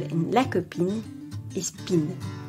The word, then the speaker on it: copine: The stressed syllable in la copine is pin, because the final E is silent.